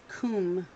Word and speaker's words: cwm: day is huh it's cwm that's how it's pronounced cwm that makes no sense to me cwm is comb a sleep a steep ball-shaped mountain basin carved